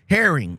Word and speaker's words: Harring: K.L. Harrington or K.L. Harring? Harring. Okay. Harring.